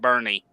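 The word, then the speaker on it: Boerne: e r NE e but it is pronounced Bernie trust me I've been there and picked up so many times they pronounce it Bernie yep Bernie and right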